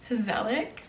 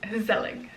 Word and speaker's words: gezellig: Gezellig. But the G is more guttural than that.